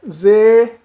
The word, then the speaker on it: sehen: O H eu não pronunciei aspirado. Como seria sehen, né? Naturalmente se diria, se fosse pronunciado como se pronuncia no início, seria sehen. Mas não é sehen, isso não está correto, é sehen, sehen. Ele serve para alongar a vogal anterior.